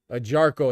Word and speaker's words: Ajarko: Ajarko is how you pronounce it.